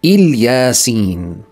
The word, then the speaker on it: إلياسين: أما الألف واللام في بداية الكلمة فلا تلفظها ألف ثم لام، بل تلفظهما كلاهما بإل، لذلك أصبحت كلها إلياسين، مما يعني أن كلمة